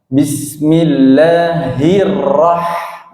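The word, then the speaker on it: بسم الله الرحمن الرحيم: Ya, di ayat yang pertama, Bismillahi, hi-nya ini tebal, bukan tipis seperti ha, ya. Jadi harus berbeda pengucapannya. Bismillahirrahmanirrahim. Nah, hirrah, ya, bismil. Yang pertama ha-nya tebal, yang kedua ha-nya tipis pada ar-Rahman, ya.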